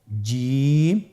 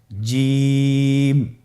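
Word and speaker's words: ج: আপনারা আমার সাথে করুন জিম মাশআাল্লাহ আবার বলুন জিম আপনারা চেষ্টা করুন হয়ে যাবে এর মাখরাজ হলো জিহ্বার মধ্যখান তার বরাবর উপরের তালুর সঙ্গে লাগিয়ে উচ্চারিত হয় আপনারা পিকচারে ছবিতে দেখতে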